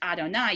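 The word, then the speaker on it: יהוה: But if we sort of revert back to an assumption that Yud He Vav He is regularly pronounced Adonai, you've got Adonai, Adonenu.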